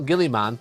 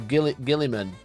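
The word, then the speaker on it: Roboute Guilliman: Guilly man is actually pronounced Route Gilman. So, it's not even man, it's men. Says it right here. Look at that. Can you see rut gill gillan? Gil. It's not Gillyman. It's Gill Gillimman.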